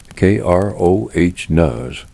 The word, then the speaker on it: Kronos: Say his name again, Kroh, because he sits at the center of what happens next.